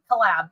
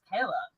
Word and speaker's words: Caleb: be different, and so it's Kalab. It never says his name right, like anything. And so the teachers and everybody, like nobody ever pronounced it right. And he's like, it's just Caleb.